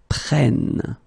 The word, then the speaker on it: prennent: Vous prenez, and the last one is quite tricky because it's il, elle prennent. Okay, so basically you double the N here, and it will give you different sound here because you get to open the sound, so it's prêt, prenne.